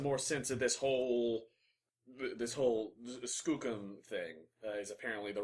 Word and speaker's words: Skookum: And I'm trying to make some more sense of this whole Skookum thing. Is apparently the right pronunciation.